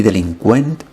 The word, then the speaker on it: delinqüent: Y delincuent, que lleva diéresis para indicar que tenemos que pronunciar la U.